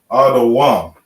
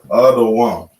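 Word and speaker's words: אדום: Same way here, we got the da, the connector faced upwards. You do the full pronunciation. You would say da.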